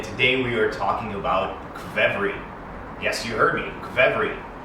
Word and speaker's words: qvevri: Hey friends, Andrey from Bliss Concierge back with you, and today we are talking about Qvevri.